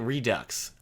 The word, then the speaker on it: Redux: Or maybe it's Red 13 Redux. You're not supposed to pronounce the X, right? Like foe? It's not fox, it's foe.